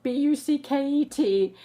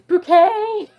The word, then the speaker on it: Bucket: And her name is Hyacinth Bouquet. But it's spelled B-U-C-K-E-T. It's not bucket, it's bouquet.